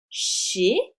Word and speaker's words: chez: Le Z ici va se prononcer et. Chez.